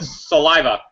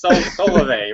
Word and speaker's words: Solavei: got started, I think it took me a week to be able to say Solavei. I think I kept calling it saliva. And I signed somebody up today, and they're like, how do you pronounce this? It's Solavei, right?